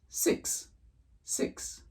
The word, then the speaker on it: six: The X here should be pronounced as though the letter K were attached to the letter S, right? Thus producing the sound X, X. That's it, literally. 6, 6.